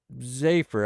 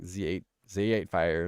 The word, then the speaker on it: Z8phy: the other day and she said my name perfect she was like she was like what's up zaer I bet you say it like that huh and I was like oh my God yeah I do I do say it like that and then she like said it wrong she was like or or maybe you say it like Z8 Z8 fire or something but I was like no you said it right the like holy cow